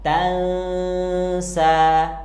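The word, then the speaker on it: فَلَا تَنسَىٰ: karena ini huruf Qalqalah terus di bagian ini tulisan Latinnya memang Tansa tapi kita harus bacanya Tansa suara annya disamarkan dan ditahan dengan dengung karena di sini ada hukum bacaan ikhfa Hakiki sehingga bacaan yang benar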